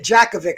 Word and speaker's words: Jakovic: javik bro he he's he's got this j jacovic i'm joe i believe the name no you